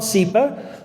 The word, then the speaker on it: SEPA: All right, so SEPA, they call it SEPA.